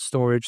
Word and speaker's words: Storj: weave scy coin storage now storage is spelled storj like s t o r and then with the letter j some people call it storage some people call it stor tomato tomato whatever the case may be